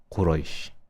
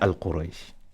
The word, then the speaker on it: Quraysh: Now, it is Al-Fatiha, Al-Nas, Al-Falaq, Al-Ikhlas, Al-Masad, Al-Nasr, Al-Kafirun, Al-Kawthar, Al-Ma'un, Quraysh, not Al-Quraysh. Imagine yourself in a gathering and everyone's name is pronounced correctly.